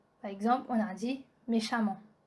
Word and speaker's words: méchamment: Note E-M-M-E-N-T et A-M-M-E-N-T se prononcent amant. Donc avec A-M-A-N-T. Ça c'est la prononciation. On prononce E-M-M-E-N-T et A-M-M-E-N-T comme amant. Par exemple, on a dit méchamment, brillamment, violemment, prudemment.